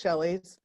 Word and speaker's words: Schelli: it's pretty simple although my name is spelled uh differently than most shelleys see if i can